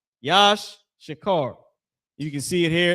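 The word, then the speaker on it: יששכר: Tribe of Issachar, the so-called Mexicans, that name is Yash Shakar. Yash Shakar.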